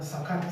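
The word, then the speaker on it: זכר: Sí, en el texto hebreo está igual, está sacar con acento en la segunda, sacar. Sacar.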